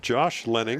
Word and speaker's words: Lenning: Number 21, that was a Josh Lenning. Am I saying that right, Miguel? Yeah, yeah, Lenning.